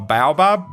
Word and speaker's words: baobab: This Observer is a baobab tree. A baobab? Baobab? How do you pronounce it?